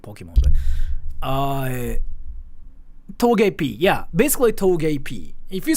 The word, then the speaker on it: Togepi: Togepi.